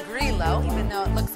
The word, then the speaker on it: Grillo: The next two wines we had were pronounced Grillo, even though it looks like G-R-I-L-L-O, so remember that.